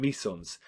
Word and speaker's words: meson: And they're subdivided into baryons and mesons. Think of your syllables. Baryon, three syllables. That means it's made of three quarks. Meson, two syllables, meson, it's made of two